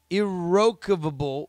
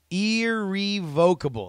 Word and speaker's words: irrevocable: leveling tremendous and possibly irrevocable. That's not how you say it. Irrevocable, permanent disgust on my closest friends. And it was for this reason. Irrevocable. That's it.